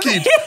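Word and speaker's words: Khaid: the name of person who pronounce him Kid, when I say K-H-A-I-D. Why not at K-I-D? Can't go K-H-A-I-D. Or even K-H-A-I-D. Okay, I-D. But I interviewed him. Then they funkify name these days. The H and the A is silent.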